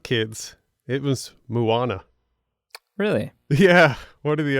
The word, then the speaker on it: Moana: Moana, Coco. Wait, I'm so proud of you. Frozen. I almost called it Manoa. You just said it right.